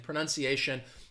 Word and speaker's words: pronunciation: And pronunciation, that T sound, that T-I gets blended together and you get the sh, sh sound.